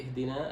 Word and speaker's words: اهدنا: ممتاز، يعني اهدنا أتيت بالهاء، هذه الحرف الخفي أتيت به كاملا، لأنه بعض الناس يقول لي اهدنا كما أتيت به.